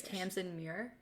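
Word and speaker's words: Tamsyn Muir: because she's incredible okay I am probably saying her last name wrong but it's Tams and Mir I think is how you say it okay um she's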